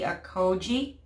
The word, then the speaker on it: Accoje: and this is called the Koji I think that's how you pronounce it a Koji hydrating aqua gel cream